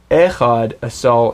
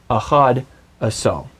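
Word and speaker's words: אחד עשר: It's not echad asal, it's achad asal.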